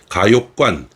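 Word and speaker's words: 嘉峪关: 네, 그러니까 오늘 말씀드렸던 내용을 본다면 중국의 입장에서 자기들 본토로 들어오는데 최종 관문이라고 할 곳이 이제 가욕관, 지금 자위관이라고 이제 그 사람들은 발음을 하는데 가욕관이 있고 그리고 그보다 조금 전방이라고 표현을 해야 되겠죠.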